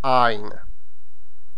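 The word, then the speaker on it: għajn: So, for example, like ein, which is G-H-A-J-N, you can hear that the A is prolongated. Ein.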